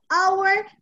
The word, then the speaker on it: hour: And our, the H doesn't exist in the pronunciation. Our. So 1 hour and a half. H is usually pronounced in English, but there are very few exceptions, and our is one of them. You do not pronounce the H in our.